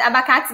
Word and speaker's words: abacate: So the stress syllable is the K.